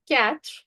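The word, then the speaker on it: quatre: Four is cat.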